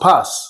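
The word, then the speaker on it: πᾶς: this word in Greek is pronounced pas, P-A-S.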